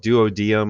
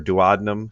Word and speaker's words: duodenum: sections here there's the what's called duodium or duodenum however you want to kind of pronounce that's it's pronounced both ways there's also then the